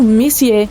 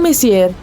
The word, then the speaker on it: Messier: Bom, o M significa Messier, pronunciado Messier e não Messier.